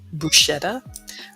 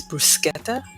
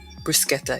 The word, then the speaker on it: bruschetta: you could do like I know we say bruschetta but when I went to Italy the proper pronunciation is bruschetta bruschetta yeah so the CH actually has the sound